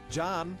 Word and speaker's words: Can: his participation in sports john his name is spelled with a c which is pronounced like a j in turkish came to the u.s